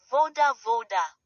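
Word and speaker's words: вода: This looks like a capital B but is pronounced like the English V as in very. Example, voda voda meaning water.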